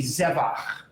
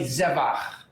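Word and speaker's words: זבח: So you accent the syllable before the last syllable. So this would be zevach. Repeat after me, everybody. Zevach.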